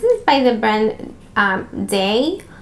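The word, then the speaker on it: Dae: by the brand um day i think that's how you pronounce this d-a-e it's a heat protectant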